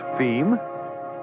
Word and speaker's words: fim: And as for distribution within Brazil, FIM pronounced FEM being, yes, you've guessed it, Portuguese for the end.